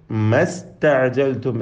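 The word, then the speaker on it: ما استعجلتم: ഇസ്തഅജൽതും എന്ന പദത്തിലെ ഹംസ ഒഴിവായപ്പോൾ സീനിനും സുക്കൂന്, അങ്ങനെ ഇങ്ങനെ രണ്ട് സുക്കൂന് ചേർന്ന് വന്നപ്പോൾ ഇൽത്തിഖാഉ സാക്കിനെയും പരിഹരിക്കുവാനായി അലിഫിനെ എന്താക്കി? ഒഴിവാക്കി ഉച്ചാരണത്തിൽ നിന്ന്. എന്നിട്ട് മസ്തഅജൽതും എന്ന് ഒറ്റ സാക്കിൻ സീനിനെ മാത്രം ഉച്ചരിച്ചു.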